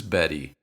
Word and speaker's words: Betty: In American English, when T comes between two vowels and is the first sound in an unstressed syllable, we pronounce it as the so-called flap, which is normally represented in the IPA as this symbol.